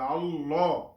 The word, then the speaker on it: আল্লাহ: আমরা এভাবে উচ্চারণ করব ল উচ্চারণ করবো মোটা করে এবং হু আহাদে আহাদে